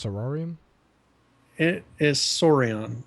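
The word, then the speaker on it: Saurian: it is s sari is that how it's pronounced sororium it is sorion s yeah sorion saion open world dinosaur survival experience it's on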